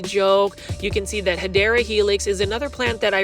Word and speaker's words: Hedera helix: Now, for those that are new to the channel, I mispronounce Hedera Helix on purpose because for some reason, plant foldies, especially Kathy from Canada, like to count how many times I say Hydra Helix.